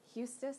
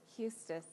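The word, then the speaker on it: Eustace: scrub was a jerk Houston thank you thank you I knew I said it wrong Eustis I should have figured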